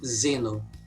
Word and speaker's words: Xeno: By the way, I pronounce it Xeno, but I know people say Zeno. It's mostly because here in my language the X sound is a different sound most of the times.